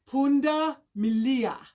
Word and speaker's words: punda milia: Okay, so, and appropriately enough, the word for zebra in Kiswahili, punda milia. Now, punda means donkey, and milia means guess what? Stripes. Punda milia. So here we can pronounce it. Punda milia, striped donkey.